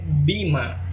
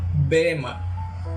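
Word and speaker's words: βῆμα: una palabra griega que se lee bima, se escribe B de bueno, E con un apóstrofo arriba, M-A, bema, y hace referencia a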